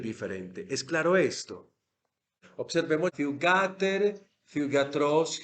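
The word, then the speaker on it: θύγατερ: oxítono, habíamos dicho que en el vocativo el acento se retrae y se retrae lo más que se puede. Y aquí donde lo retrajo, a la antepenúltima sílaba. Fiugater, Fiugater, por decirle a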